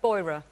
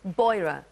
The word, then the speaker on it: Beurer: Do I pronounce it Beurer? Beurer. Beurer.